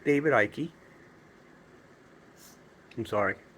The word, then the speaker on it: Icke: David, either drop the E or allow me to refine myself to speak properly, because there are plenty of E finals that aren't pronounced in English. So David Icke and Laura Magdalene Eisenhower,